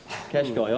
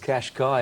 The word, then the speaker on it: Cash Kai: Cash Kai or Cash Kai? I don't know, Richie, you're the one that gets everything right. Cash Kai, I'd be saying. It's sort of spelled like Hawaii, isn't it? Yeah, I think you're right, Rich. Kai. Greg Miles calls it Cash Kai, and that'll do me.